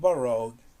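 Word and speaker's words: borough: glue is not called borrowed it is not borrowed so how do you pronounce it borrow and this gh by the end they're silent you don't pronounce it this just borrow borrow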